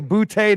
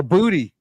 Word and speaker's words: Boutte: It might be a Boutte day. It might be May to Boutte. Yeah. Or Booty. However, I think he says booty is how you pronounce it.